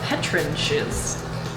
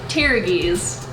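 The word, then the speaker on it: pteruges: it's actually called a petrides which I am definitely pronouncing right how's it pronounced petrides petrides okay so p is silent so tiies tiies all right so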